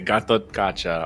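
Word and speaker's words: Gatotkaca: just say good G Gat kcha ah okay Gat kacha okay I was wondering so I just had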